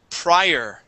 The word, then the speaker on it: prior: to this word here this word is prior instead of pre prior prior prior good good okay this